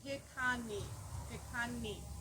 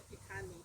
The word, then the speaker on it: Piikani: The Piikani tribe. And they were absorbed into the Blackfeet Nation. But it's originally the Piikani tribe. It's like picante, but without the T.